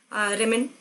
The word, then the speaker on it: rumen: होता है स्टोमक में, रेमेन, ठीक है, RUMEN, रेमेन, स्पेलिंग गलत मत कर देना।